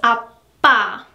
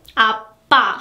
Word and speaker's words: 아빠: So that's why in this order system, it will relatively take the longest when you pronounce 아빠, okay? 아빠. Because your mouth, in this case, is your lips, they need more time to be closed, like this, and then they will be bursted.